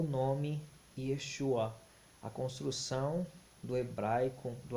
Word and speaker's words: Yeshua: hebraico todos os manuscritos antigos possuem o nome Yeshua a construção do hebraico eo aramaico elas são